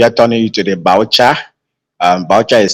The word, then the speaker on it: biochar: And when you have the plant that is well dried, so we now if you are turning it to the boucher, boucher is spelled BIOCHAR.